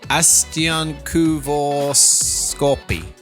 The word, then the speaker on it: astiankuivauskaappi: so just in case you're wondering how to pronounce it. Astiankuivuuskaappi. Astiankuivuuskaappi.